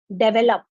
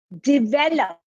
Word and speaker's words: develop: we pronounce it as develop it is not it is develop just imagine that there is an i it's d-i-v-e-l-o-p then you will pronounce it correctly it's develop going to